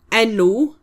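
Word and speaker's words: enw: So it's v f y v which is my and then nu is e n w and it's name.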